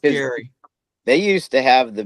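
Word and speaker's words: Gerry: Yeah, Gary, New York. But it's called G E R R Y. New York. Yeah. It's pronounced Gary.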